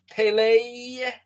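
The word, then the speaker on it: פלא: Well, there's no O. It's Pei Lamed Yod, but the Aleph is silent. So it's Pele.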